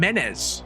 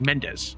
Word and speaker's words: Mendes: they said Mendes yeah no they're not pronouncing the D the the D they're saying menz menz the subtitles was correct yeah cuz the guy's name was Mendes back home Norman admits